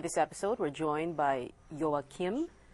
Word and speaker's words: Joachim: and workplace for this episode we're joined by joakim correct herman he's a certified building biologist hello joao kim that i pronounced that correctly right yes yeah yes although